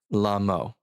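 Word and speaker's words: לָמוֹ: It's the word lamo. It's spelled with 3 letters, lamed, mem, vav, lamo.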